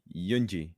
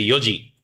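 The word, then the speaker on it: 四時: Yunji. No. Look how they put a little extra yo because sometimes some Yes. You say yoji.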